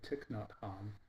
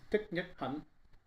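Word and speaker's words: Thích Nhất Hạnh: pilgrims um and uh Tian which is the best I can do to pronounce his name they don't say tikn Han it's Tian um his Temple which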